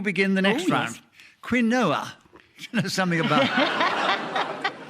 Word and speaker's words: quinoa: It was only years later we realised the correct pronunciation for this is quinoa, Nicholas. Yes, it does begin with a Q and a U, like corn and quiche and other healthy foodstuffs like